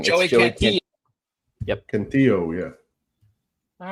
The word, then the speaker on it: Cantillo: I'm just going to double check before I say the name wrong. Joey Cantillo. Yep. Cantillo, yeah.